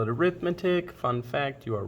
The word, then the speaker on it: arithmetic: people uh we are doing notes today on arithmetic sequence now most of you probably looked at this word and called it arithmetic fun fact you are wrong this is actually